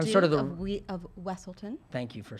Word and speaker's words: Weselton: of Wesselton, Thank you for saying it.